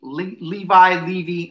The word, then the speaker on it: Levy: Levy. I'm going to say, I always pronounce it Levy, but Levi makes more sense now.